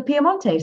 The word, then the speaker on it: Piemonte: from the Piedmont region, or Piemonte, I should say, really, the Italian pronunciation.